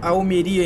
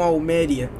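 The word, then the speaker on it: Almería: lá pra cidade de almeria Olha só vocês viram que tem assento ali em almeria por isso que eu sabia que o nome dessa cidade era almeria e não Alméria saia agora porque tem esse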